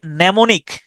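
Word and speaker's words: mnemonic: psychology উচ্চারণ হচছে psychology তারপরে নেমনিক নেমনিক এই শব্দটার উচ্চারণেও প্রথম এম শব্দটা উচ্চারিত হয় না এটাকে আপনি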